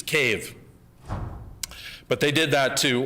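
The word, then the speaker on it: Kyiv: major cities being changed you sometimes hear of kiev that's russian and it's actually a political act now to mispronounce the capital of ukraine which is cave but they did that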